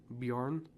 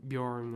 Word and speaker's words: Bjorn: The J in their language, I hope I'm not getting this wrong, but it's like a lot of the J's mean a Y. So it's like fjord or Bjorn or something like that.